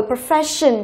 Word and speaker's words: profession: Rồi profession, từ này chúng ta thấy là có nguyên tắc là gì? Còn đuôi là S-E or no. Đấy thì trọng âm của nó, trọng âm chính của từ nó sẽ rơi vào âm tiết trước đấy là rơi vào phe.